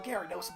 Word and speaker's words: Gyarados: The adult Pokemon trainer with brown hair and no sleeves, wearing a blue shirt, said, "I ran over here on Gyarados' back."